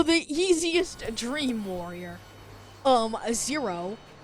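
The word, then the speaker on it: Xero: and then to the easiest dream warrior um zero it's how you pronounce it right zero which gets taken down very quickly because he's easy peasy lemon a squeeze.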